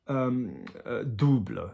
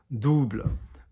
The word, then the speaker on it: double: And anything with an OU would be here on the chest and the tummy, U. So double, double, okay? Double, not double, double.